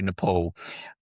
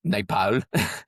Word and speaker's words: Nepal: I just need to say up front, I'm an Australian, so I say Nepal. When I'm over there, it's Nepal. And occasionally you get Nepal, so that you get excuse my varying pronunciations of the word, but Ross was